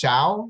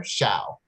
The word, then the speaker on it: Xiao: So my last name is pronounced Xiao, like shower. So if it's just the very start of shower, Xiao.